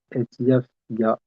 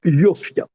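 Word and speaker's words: יָפְיָהּ: Lehavi et Vashti, Amalka, Lifni Amelech, Becheter, Malchut, Leharot Ha'amim, Lehasarim, et Yafia, Alors, on prononce Yofia.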